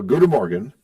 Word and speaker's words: goedemorgen: Well, goedemorgen.